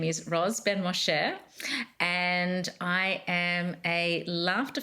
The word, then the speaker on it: Ben-Moshe: So my name is Roz Ben-Moshe, and I am a laughter for wellbeing and positivity expert, author, and academic.